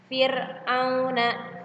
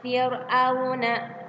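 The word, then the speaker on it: فرعون: Fir'auna, Fir'auna, Fir'auna tidak dibaca tebal. Fir tidak dibaca tebal. Fir tidak seperti itu, tapi dibacanya tarkik, tipis.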